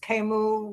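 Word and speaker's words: Camus: and uh some fellow whose name is Kimu with a silent s on the end of it and Kenneth passion and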